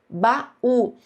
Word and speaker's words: baú: Baú. Baú é uma palavra acentuada pela regra das dos iatos, ba u. Então aqui nós temos uma letra U tônica formando iato com a vogal da sílaba anterior.